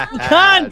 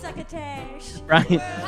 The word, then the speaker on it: pecan: It's pecan pie. Pass. This is more of an Arkansas thing. In Arkansas, it's pecan. Oh, you gotta say it like you got a mouthful of molasses. Pecan.